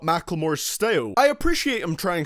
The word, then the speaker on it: Macklemore: number nine we have Macklemore I'm never gonna say McLemore even though that is probably how you say it correctly with marmalade featuring lil